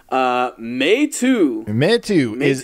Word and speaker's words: Meitu: Okay, so how do you pronounce that first? Meitu.